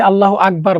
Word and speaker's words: আল্লাহু আকবার: আকবার না অনেকে আছে আল্লাহু আকবার বলি অথবা অনেক সময় আল্লাহ বলি আল্লাহু শব্দটা আমরা একটু ভালো করে উচ্চারণ করার চেষ্টা করব আল্লাহু আকবার আল্লাহু আল্লাহ আল্লাহ শব্দটা আমরা মোটা করে বলার চেষ্টা করব আল্লাহু আকবার আল্লাহু আকবার